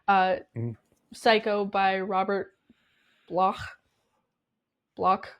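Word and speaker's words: Bloch: psycho by Robert blo block how do you spell it b o c h block yeah block block block like lock yeah lock yes like Loch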